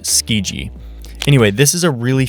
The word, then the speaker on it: Tsukiji: I know the pronunciation for this word kind of seems weird because of its spelling, but just know that it's pronounced Tsukiji.